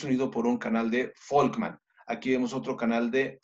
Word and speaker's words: Volkmann: Sí, mira, es que además del conducto o canal de Havers, existe el conducto o canal de Volkmann. ¿Ve cómo se escribe? V, doble N al final.